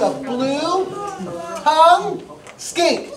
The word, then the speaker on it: skink: He's called a blue tongue skink. Say it. Blue tongue skink, not skank.